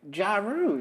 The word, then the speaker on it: Jaru: of Coles because also did you say her name was Ja Rule is that what you said well I mean that's her name now uh no her name is jaru j-a-r-u okay um she does